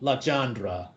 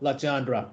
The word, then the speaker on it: Legendre: One of the other kinds of basis is called Legendre polynomial, or in Thai they would pronounce it เลอจองอนุกรมเลอจองครับลักษณะแบบนี้ so what is it?